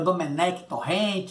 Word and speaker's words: Domènec Torrent: É, com pronúncia catalunha dele aí, né? É, falam que ele é Domènec Torrent, Domènec Torrent, é cada coisa, mas o nome é Domènec Torrent.